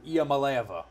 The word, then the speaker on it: Iamaleava: Let me see if I can finally get his name pronounced correctly. Nico Iamaleava.